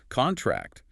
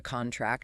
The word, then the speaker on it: contract: a contract versus contract with the stress on the second syllable which is the verb meaning to get smaller.